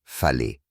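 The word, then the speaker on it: fale: l'habitat traditionnel ici est le FAL prononcé fet une grande maison ronde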